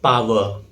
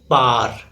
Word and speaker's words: power: Its correct pronunciation is power. It is often mispronounced as par.